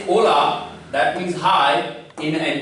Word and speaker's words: hola: In Spanish, H is always mute. So you will just write it, but you will not pronounce, and you will pronounce it hola.